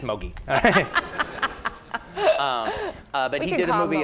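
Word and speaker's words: Moguy: And I thought it was Mogwai, and then Pierre said, no, it's just Mogi.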